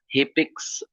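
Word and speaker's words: HCPCS: It is a full form and pronounced Hippix threele system of codes.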